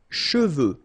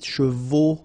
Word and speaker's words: cheveux: Sèche, okay, sèche, and then cheveux. Usually this one is a bit of a problem because some of the students normally pronounce it chevaux, okay?